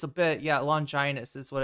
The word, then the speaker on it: Longinus: the spear of Longina, is that what it's called?